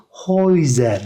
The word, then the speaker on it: Häuser: Yani A harfine umlaut alınca bu E harfi oldu. E, U, oy oldu. Häuser şeklinde okuyoruz.